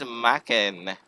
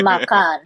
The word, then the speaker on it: makan: You said it wrong. It's supposed to be makan.